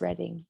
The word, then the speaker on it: Reading: We're on the outskirts of Reading, Oh, so you're a little ways away. which is spelled Reading. So Reading Railroad and Monopoly, we were lied to all those years. Oh, It's Reading. Reading.